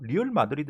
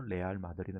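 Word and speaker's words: Real Madrid: 아닐 거 뭐라고 이거 리얼 마드리드 이렇게 발음을 안합니다 뭐라고 바람 합니까 레알이 라고 저는 왜 r 그래서 무슨 맛 을 보면 그 말할 때 아들하고 친구도 라고 말할 때 뭐를 레알 그러던 레알 어 내 r 절대 이라고 말한 아제 멀리 얼이 하는걸 내 알이 라고 하는 이유는 레알이 여기서 읽음 가능성을 다 스페인으로 발음으로 이것은 뇌 아리라 곡이죠 그래서 레알 마드리드 입니다 그러면 진짜 마뜨 드려요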